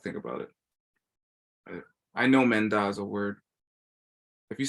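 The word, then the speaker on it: མེ་མདའ: So because da is a palatal, it makes an N sound between them. That's it. So either one of you pronounced this correctly. Menda?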